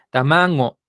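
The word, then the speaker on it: たまご: amago bien esta locutora esta locutora utiliza la pronunciación este de la gente grande que esta G la pronuncia nasal Entonces no dice tamago Ah dice tamago Ah con una gna sal a ver si la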